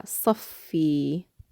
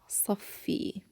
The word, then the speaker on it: صفي: But what's important is that if you attach anything to it, you pronounce it with the shadda.